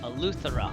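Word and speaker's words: Eleuthera: Althera.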